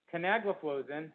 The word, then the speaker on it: canagliflozin: which is farsiga empagliflozin which is uh giardians canagliflozin which is invokana and then there's two other